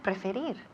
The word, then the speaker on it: prefer: Okay, and finally we have preferir. To prefer. Perfect. Muy bien. Repeat again. To prefer. Perfect. Eso es. To prefer. To prefer. Y el acento recae en la segunda sílaba.